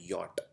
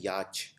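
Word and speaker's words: yacht: अगला शब्द है योट इसको प्रोनाउंस करते हैं योट इसको बोला हिंदी में बोला जाता है याच याच यानी यह एक छोटी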